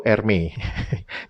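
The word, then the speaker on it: Hermès: yang mahal itu ya, kan tulisannya Hermes gitu kan. Nah, ternyata kalau pengucapannya di dalam bahasa Prancis itu Hermé. Jadi huruf H di depannya itu hilang gitu ya.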